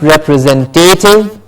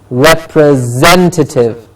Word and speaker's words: representative: over and over again which is representative not represent deity it is representative representative it is attractive at